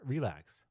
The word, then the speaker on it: RLax: source code okay so arax pronounced relax is a library built